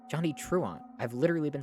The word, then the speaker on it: Johnny Truant: on why is that message pinned I've been pronouncing his name right Johnny truant I've literally been saying that VOD Watchers as